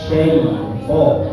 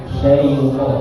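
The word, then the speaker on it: شيطان: Ya, seharusnya bacanya itu A'udzu billahi minasy syaitan ya. Syaitan. Jadi yang terdengar syaitan. Nah, itu yang pertama.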